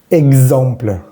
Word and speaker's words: exemple: Por ejemplo, exemple, exemple, exact, exact, exemple, exact, x. En español diríamos ex, como una KS. Entonces aquí es igual, KS, pero esa S va a vibrar.